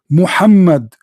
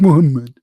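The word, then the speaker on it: Muhammad: correctly how do you how do you say it correctly Muhammed Mohammed Mohammed Abdullah this is his name not Mohammed what Mohammed who is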